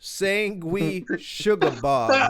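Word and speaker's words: Sanguisugabogg: Sangui Sugabog.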